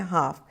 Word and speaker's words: half: अब हाफ हम प्रोनाउंस करते हैं हाफ, लेकिन लिखने के वक्त उसमें हम एल डालते हैं। एल साइलेंट होता है प्रोनाउंसिंग में, लेकिन लिखने में हमें इसमें HALF डालना होता है।